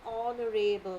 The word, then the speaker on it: honorable: He is an honorable man. Why? Because here this is the silent H.